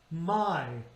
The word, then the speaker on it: my: Remember, two vowels on one syllable. It's ah and it's e, but we don't say my, we say my.